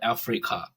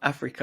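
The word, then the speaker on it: Afreeca: It's a free CA. So it's like a free camera, but they call it Africa, right? I see. That's how you say it.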